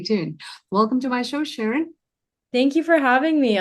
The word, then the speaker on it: Shirin: So, Shireen is actually a Persian name.